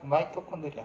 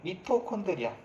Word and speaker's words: 미토콘드리아: 마이토콘드리아, 미토콘드리아. 마이토라고는 잘 발음 안 하지만 어쨌든 다 여러분들 중학교 때 한 번쯤은 다뤘던 애들입니다.